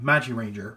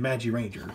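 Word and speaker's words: Magiranger: or Magic King from Magic Ranger. So I think I mispronounced it. I think it's Magi King and Magi Ranger. That's what I meant to say.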